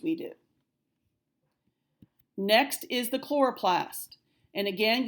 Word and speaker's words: chloroplast: did next is the chloroplast and again you have to underline that CH and right okay it's not so little slow Laura Plast it is chloroplast this one you might